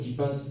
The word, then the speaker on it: EPAS: Alors, l'accréditation IPAS, donc ça s'écrit EPAS pour European Program Assessment